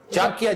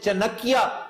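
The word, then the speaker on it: चाणक्य: चांकिया, जिसे चनकिया कहकर miss pronounce करते हैं लोग, चनकिया नहीं है, चांकिया कोतलिया।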